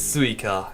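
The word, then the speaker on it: 萃香: The Oni Marisa is referring to is suika, and suika is also the Japanese word for watermelon, although it's written differently, but pronounced the same way.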